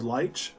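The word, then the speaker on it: Leitch: the movies this year i think you pronounce it david lych but david lutch continues to prove he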